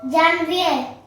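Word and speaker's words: janvier: में पहले तो फ्रेंच बोलो मैं इंग्लिश बोलूंगा जनय स्पेलिंग जे ए एनवी आई आ हां जनवरी को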